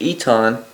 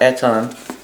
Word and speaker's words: Eton: Somebody commented and let me know that was telling me that it's pronounced Eton, not Eton, like I've been saying it.